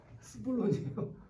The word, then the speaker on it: 스불론: 이사갈과 시블론이에요? 스불론이에요. 발음.